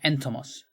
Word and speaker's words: Entomos: So, called Entomos. With an accent on the E.